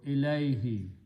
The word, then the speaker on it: ilayhi: So ilahu, when we pronounce them together, it is pronounced as ilay, and who is pronounced as he for the tajweed. So ilayhi, to him.